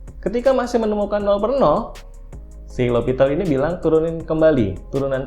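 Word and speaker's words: L'Hôpital: Tulisannya L'Hospital. Jadi bacanya L'Hopital, ini orang Prancis, dia menemukan metode mencari nilai limit fungsi dengan cara turunan.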